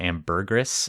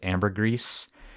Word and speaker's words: ambergris: I was calling it ambergris and it's actually pronounced ambergris.